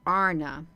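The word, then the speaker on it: Ana: saying it right so if it says a n it is pronounced a RN if it's a n a it's pronounced Arna they're talking about men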